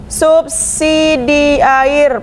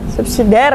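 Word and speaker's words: subsidiair: Para terdakwa disangkakan melanggar pasal 2 ayat 1 subsidi air pasal 3. Subsidi air tulisannya. Subsidiar ya bacanya.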